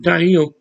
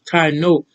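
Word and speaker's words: Taíno: Um, I had men and women say, I'm Taino. Taino was a man's tribe. You couldn't have been a woman in a man's tribe. And that's not how you pronounce their name. It's Taino.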